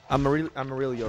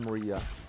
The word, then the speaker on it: amarillo: So, I remember learning about the Amarillo. Amarillo, right? Not Amarilla.